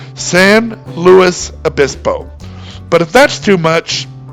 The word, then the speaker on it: San Luis Obispo: The middle word is pronounced like it would be in English, Louis. So the correct way to say it is San Luis Obispo.